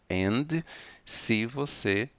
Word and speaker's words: and: Fine, thank you, and you. Não precisamos pronunciar a letra D de dedo da palavra and se nós estivermos falando rápido.